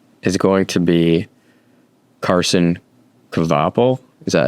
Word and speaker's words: Kvapil: I think the Daytona winner of 2026 is going to be Carson Kvapil. Is that how you say it? Kvapil. Yes, Kvapil.